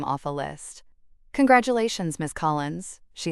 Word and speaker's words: Collins: I checked the small card with my name printed phonetically because people often wanted to say Collins like it had a second syllable.